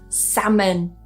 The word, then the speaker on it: salmon: And the last one here, salmon. Salmon. Now, I have heard some people say salmon. This is quite a common accent thing as well. So, listen out for those L's. You might hear them with some particular accents.